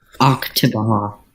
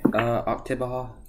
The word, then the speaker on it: Oktibbeha: Oktibbeha. Oktibbeha? Yeah. Okay. Oktibbeha County.